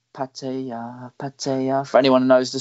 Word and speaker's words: Pattaya: been to pattaya and i've never ever said pattaya it's patty uh for anyone who knows